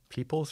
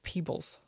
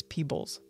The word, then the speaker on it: Peebles: lives ooh interesting now am I saying his name wrong is it peoples or peoples it's Peebles but when you say it like it's it ends up sounding like the plural of people but it's Peebles Dr James Martin peoples